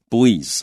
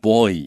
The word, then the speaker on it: buoy: 这个从哪里收集来的呢从 satellites 卫星还有呢 ocean buoys 那这个字蛮有趣它的发音字典上面很多字典都是注 boy 这样子来念但是呢在 Angela 老师说呢他其实他听到的念法都是这个 buoy Yeah, growing up everyone said buoy. I think it's a Great Lakes versus a East Coast ocean dweller type.